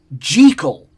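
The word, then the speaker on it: Jekyll: I actually think it's supposed to like Dr. Jackekal. I don't think it's supposed to be Jackal. I think the actual original pronunciation was gel. I'm I'm almost positive that I've read that somewhere that it's supposed to be gel, not jackal.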